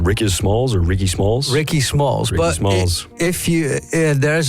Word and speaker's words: Rickismalls: you up under your artist name, is it pronounced Rickismalls or Rickismalls? Rickismalls.